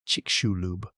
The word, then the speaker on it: Chicxulub: The crater is called Chicxulub, pronounced Chic-shu-lub.